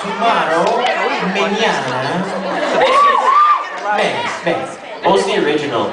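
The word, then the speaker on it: Mignogna: My last name is pronounced Mignana. Like tomorrow, Mignana.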